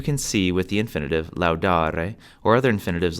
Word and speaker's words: laudāre: have to remember that there are no silent letters in Latin. The spelling of Latin words was on how each word sounded. So if a vowel is there, you should pronounce it. This final E in infinitives is pronounced E.